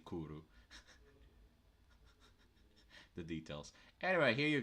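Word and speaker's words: クール: He has his favorite word is kuro, which is basically cool but Japanese because they can't pronounce the L, so they say kuru.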